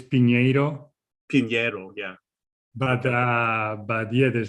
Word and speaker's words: Pinheiro: So it's Pinheiro.